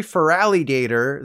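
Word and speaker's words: Feraligatr: Apparently it's actually Feraligator, so you should think of it as a feral alley alligator, which I think is far more dumber.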